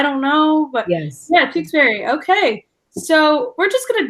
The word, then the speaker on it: Tewksbary: Tewksbary, just like the town, but spelled a little different.